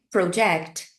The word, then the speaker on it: project: olhadinha na diferença entre elas o verbo é Project agora o substantivo pro At Work pro CONSEG